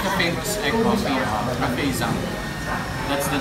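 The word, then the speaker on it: Giảng: Zang, or how do you pronounce the word? Zang.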